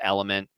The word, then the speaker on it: LMNT: in the water lmnt which just is pronounced element that's an electrolyte salt